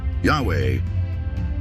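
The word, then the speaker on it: Yahweh: pangalan ng Diyos ay yahwe yahwe as the more correct way mas tama ang yahwe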